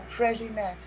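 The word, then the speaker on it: Freixenet: Yeah, Fréginet. Fréginet? Is it J or an X? Fréginet, that's an X.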